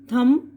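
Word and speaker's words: thumb: कोम, कंगा, ये कोम बोल रहे हैं मैं ना, COM बी है लेकिन कोम पढ़ रहे, बी साइलेंट। इसी तरह लैम, मेमना, थम, अंगूठा, ठीक है।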